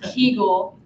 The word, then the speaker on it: Kegel: Yeah, but it's pronounced Kegel and it's Right. spelled with a K.